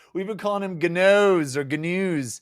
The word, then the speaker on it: Ganoes: Gnoos like canoes. We've been calling him Ganoes or Gnoos.